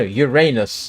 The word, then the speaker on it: Uranus: Well, yeah. No, Uranus. That's that's the point. That is supposedly the correct pronunciation.